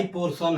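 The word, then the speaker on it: portion: हिसा या भाग पोशन अब पोशन में लास्ट में क्या है आईओ है क्या है आई आ से पहले टी है तोय स पढ़ेंगे क्या पढ़ेंगे सब पढ़ेंगे प्रमोशन इसमें भी वही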